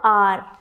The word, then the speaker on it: hour: Hour. It is not hour.